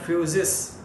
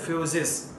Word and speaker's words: physis: Physics word is derived from Greek word physis. Just see on the board. It is written on the board as physis. We can pronounce it as F-U-S-I-S.